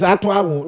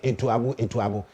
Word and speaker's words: Atuabo: Please, the name is Atuabu. Those of you who in Accra and Kumasi, you pronounce it Etuabu. It is Atuabu.